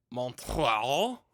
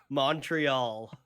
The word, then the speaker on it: Montreal: Americans have a way of pronouncing it that I hate. Montreal. Yeah, that's it. That's the way. Montreal. How do you say it? Montreal. I okay, is it just the Mun? Yeah, it's the Mun versus the Mon.